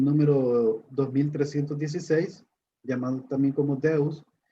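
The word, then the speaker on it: θεός: Aquí, Dios, esta es la palabra, el nombre, que como les mencionaba, se pronuncia como Deus. Esa es como la pronunciación Deus, aunque se lee como Teus para nosotros, Teus.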